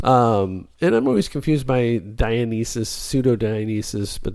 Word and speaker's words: Dionysus: And I'm always confused by Dionysus, pseudo-Dionysus, but that's Dionysius, not Dionysus. Dionysus. He's the Greek god, isn't he? Dionysus is the Greek god. Dionysius. You're missing a syllable there.